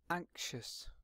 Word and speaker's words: anxious: have a look at the pronunciation of this word so anxious anxious there's a really soft K in the middle and action really soft anxious and the word anxious